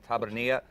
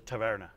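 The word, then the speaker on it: Taberna: of la boca and tabernia but I've mispronounced it's the Taverna Taverna yeah and Mas tapasivino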